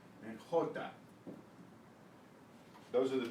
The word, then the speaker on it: jota: away is the J, in Spanish called the jota, jota, J-O-T-A, jota, and the G, which is called in Spanish G. So let's talk about that. G and jota.